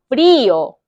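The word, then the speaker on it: frío: 아길라 아길라 추운 거 프리요 프리요 프리요가 아니고 프리오 프리요 프리요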